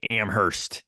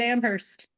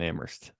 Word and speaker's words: Amherst: I hope so too I silent I think yeah I tended to pronounce the h as like a Midwestern or Amhurst but I don't think I think it's silent it's just indm exms